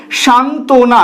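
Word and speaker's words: সান্ত্বনা: বটা উচ্চারিত হচ্ছে না সান্তনা এই বানানটায় দেখো যেহেতু একাধিক সংযুক্ত ব্যঞ্জন এখানে রয়েছে তাই এই অন্তস্থ ব অনুচ্চারিত অবস্থায় থাকবে অর্থাৎ উচ্চারিত হবে না এটা কিভাবে উচ্চারিত হবে সান্তনা এখানে অন্তস্থ ব এর কোন উচ্চারণ নেই আজকের ভিডিওটি এই পর্যন্তই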